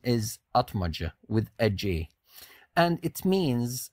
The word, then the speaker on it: Atmaca: why are you saying atmaja and not atmaka well that's how it's pronounced in Turkish and if you are